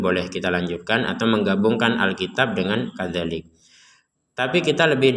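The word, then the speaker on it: الكتاب: Dan kita berhenti di sini, maka huruf ba ini kita pantulkan. Al-kitab. Ya, jadi tidak sekedar kitab, itu kan nggak ada pantulan huruf ba-nya.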